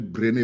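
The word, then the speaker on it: Brené: chercheuse ma langue aller très vite elle s'appelle brene Brown Bren s'écrit BR r e n e Bren Bran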